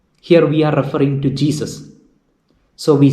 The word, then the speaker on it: Gesù: Jesu, Jesus. Please note the pronunciation Jesu. There is an accent mark on U. So that U is got accented. So we have to pronounce Jesu.